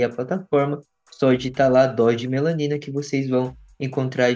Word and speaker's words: Dose D Melanina: Então lembrando que o D é mudo também.